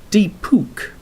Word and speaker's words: Deepak: It's pronounced like Deepuk, Diaz as.